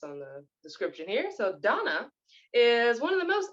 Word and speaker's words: Dana: um her name is it looks like Dana d-a-n-a but it's absolutely pronounced Donna um based on the description here so Donna is one of the